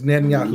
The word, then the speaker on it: Netanyahu: It's Netanyahu.